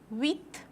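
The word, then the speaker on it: huit: said don't pronounce pop eight wit we'd start with ash ash is not pronounced in French language so you will always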